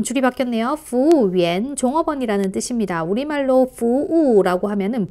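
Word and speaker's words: 服务员: 그래서 그냥 부우위엔으로 통일해 주시면 되겠습니다. 자, 다시 한번 읽어볼게요. 부우위엔. 한 번 더요. 부우위엔. 네, 여기서 YU 발음은 위 발음으로 하시면 되고요. 뒤에 AM 붙은 건 위N으로 읽으시면 되겠죠.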